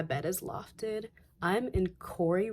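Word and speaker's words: Koury: is lofted I'm in Corey residence hall that is k-o-u-r-y I'll spell it but Corey is the dorm I recommend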